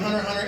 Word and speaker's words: Hunter x Hunter: The X in Hunter x Hunter is silent. I actually don't know the answer to that. Right there. Look at that. The arms up. That's good. Yeah, you. It's false? Yes.